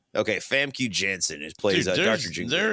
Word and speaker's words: Famke Janssen: Like Famke Janssen. Okay, Famke Janssen plays Dr.